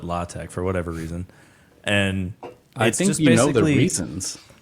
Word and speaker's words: LaTeX: talking about it's like it's spelled latex but they call it latch for whatever reason and